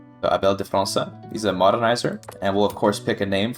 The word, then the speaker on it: França: França? How do you say that The C is just an S when it has the cedilla on it, right? Uh Abel de França.